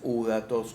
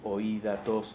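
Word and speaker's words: ὕδατος: y del agua es udatos oí datos Según como quieras pronunciar porque la u en griego se pronuncia como común una un con mezcla de Y más como un sonido francés o alemán no una cosa así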